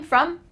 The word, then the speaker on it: from: I'm from Mexico. And you? I'm from India. And you? Let's break down this pronunciation. I'm from, F-R-O-M, sounds like a U here. From.